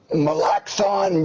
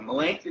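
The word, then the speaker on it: Melancthon: in your eyes and i'm not sure how to pronounce this so you'll have to forgive me malachthon junebug yeah you're real close melancholy junebug melancton is the town where i live up here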